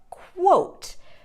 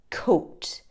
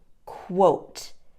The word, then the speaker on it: quote: word today there quote the correct pronunciation is quote now the mistake that students often make is saying coat pronouncing the q u as a k sound but to correctly pronounce it it's a quo sound quote try that with me